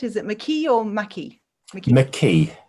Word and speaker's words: McKee: Have I pronounced that right? Is it McKee or McKee?